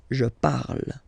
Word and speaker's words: parle: to pronounce it is je parle. Parle. So remember, we put it, okay, but then we don't really pronounce it.